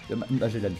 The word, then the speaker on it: Magellan: Magellan, je vais l'appeler, mais ça c'est la prononciation anglaise.